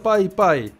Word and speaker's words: Pis Pis: De todas formas, hay un río en Nicaragua y Pis Pis se pronuncia Pai Pai.